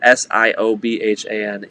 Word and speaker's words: Siobhan: a friend siobhan yeah now if you look at s-i-o-b-h-a-n you know like there's a youtube actually i think it's like a buzzfeed video of like people trying to pronounce irish names it's it's fantastic because it's so true it's like you want to spell you want to pronounce them right um and and in that video none of them are pronounced correct and then they hear like oh it's siobhan and they're like oh